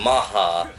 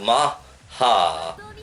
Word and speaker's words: Mach: Except the way they pronounced Mach was weird in Japan. They're all like Maha, and he's all like, what the Mach speed thing? It's all like Maha, and then he's all like, "Kamen Rider Maha."